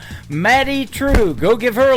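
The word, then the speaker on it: Madye Trew: It is M A D Y E on her first name and True is spelled T R E W. Matty True.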